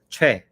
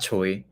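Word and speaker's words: 최: Is it Che? It's Che. Che. Yes, it's Che. It's not Choi.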